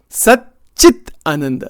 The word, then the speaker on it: Sat Chit Ananda: Sat Chit Ananda. I have to pronounce it carefully. There's no H there.